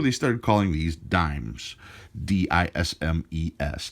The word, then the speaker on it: disme: started calling these dimes dism es dimes eventually since they stopped pronouncing the S it just went to